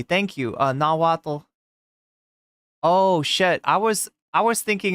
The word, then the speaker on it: Nahuatl: Do pronounce the T. Thank you. Nahuatl.